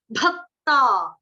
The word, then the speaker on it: भक्ता: Similarly यहाँ पर क्या है, भक्ता। अब भ जो है ना, बड़े सारे बच्चों का उच्चारण होता है ब, बकरी। मैं वो मेरे से बात नहीं करता, ब नहीं है, भ, भालू।